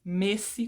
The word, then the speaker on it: Messi: pronúncia é igual Messi Bom na verdade a pronúncia não é exatamente igual porque em espanhol nós dizemos Messi com essa e fechada mas anyway This is